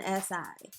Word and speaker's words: Anansi: seems like this is the January, and I'm going to let you try to pronounce the, The name, the, that right there, yes. it's Anansi.